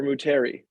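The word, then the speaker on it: Moutere: Do you pronounce it Mutri or Muteri?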